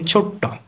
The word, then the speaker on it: ছোট্ট: এবং সর্বশেষ যেটি রয়েছে ছোট থেকে ছোট্ট, তাহলে এখানে ট কিন্তু দুইবার উচ্চারণ হলো, তার মানে দুইবার উচ্চারণ যখন হবে তখন আমরা কি বলি?